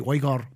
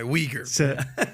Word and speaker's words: Uyghur: in parliament to recognize the plight of the Uyghur Muslim people in China, who are an ethnic